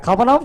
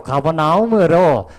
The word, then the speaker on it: 가버나움: 예, 가버나움 찾기가 그렇게 어려워요? 예, 발음을 정확하게 해요. 가버나움으로 정확하게 하세요.